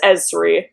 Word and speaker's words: Ezri: Um it's pronounced Ezri.